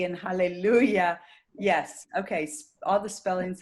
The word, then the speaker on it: hallelujah: we say hallelu j you never say ja hallelujah you say hallelujah and in some languages that e is written j but it's always pronounced e so we have once again